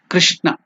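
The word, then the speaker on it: कृष्ण: So it should be pronounced as not even kru or kri. It is kr. In between that kru and kri, there is a pronunciation in between. Kr. Krishna.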